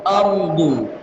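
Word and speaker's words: أرض: Perhatikan di kata ardu. Ardu itu yang ditebalkan ra-nya, bukan hamzahnya. Hamzah biasa tipis, ra-nya yang tebal. Ardu, tu itu sambil memonyongkan mulut.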